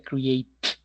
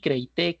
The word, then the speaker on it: create: Se pronuncia create, no es creí, creité, creit, creitó, creitú, creitó, nada de eso.